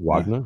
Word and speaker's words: Wagner: in in in Wagner Vag how are we pronouncing that now? Is that is that Kev now? Is that Vagnner Vagna Vagnner? Wagner.